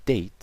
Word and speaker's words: date: th is six is date so da te e is silent obviously 7 3 th